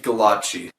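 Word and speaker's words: Gallacci: yeah how the do you pronounce that goddamn name okay it's Steve Kalan Qi Steve galati's character design from his series albedo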